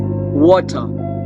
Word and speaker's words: water: Uh the word water they will pronounce as water. The R is silent water right?